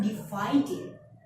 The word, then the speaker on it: divided: So when you have the verb that ends with T or D and you want to change it into the past simple or past participle form, you have to stress it in the end. Invited, divided.